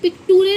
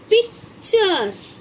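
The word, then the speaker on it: picture: समझाया यू आर ई इसे हम पिकुरे नहीं पढ़ते क्या बोलते हैं इसको बच्चों हम पिक्चर जैसे यही एन ए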